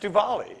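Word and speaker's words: Diwali: the coolest guy in the room so divali that's a uh hindu and it's pronounced duvali it's a hindu feast of the feast of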